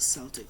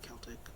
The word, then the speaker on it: Celtic: I think you're supposed to say Celtic with like a hard C.